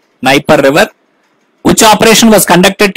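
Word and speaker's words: Dnieper: it is knight river d is silent here nipper river which operation was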